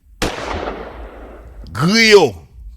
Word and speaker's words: Griot: But without further ado, man, Jiles, Grubby Pawz, Griot.